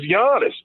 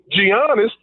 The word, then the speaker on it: Giannis: that the guy's name is giannis we know that it's not even to me debatable because someone you hear on tnt say it that doesn't make it right and to allow your voice to pronounce it giannios to me it's just wrong for you i wouldn't let my